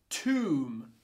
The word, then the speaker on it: tomb: Tomb, like what you put a dead person in. Oom.